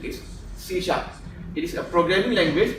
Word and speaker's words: C#: It's not C#, but the pronunciation is C#.